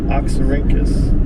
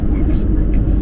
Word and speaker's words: Oxyrhynchus: Oxyrhynchus. It's Greek. Interesting. Oxyrhynchus. Oh, wow. Do you think you could impress like a scholar type girl with that word? Nope. Hey, baby, Oxyrhynchus.